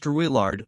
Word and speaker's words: Drouillard: was a man named George Drouillard, or Drouillard, as the journals often render his name, the phonetic approximation of a French pronunciation that Lewis and Clark never quite got right.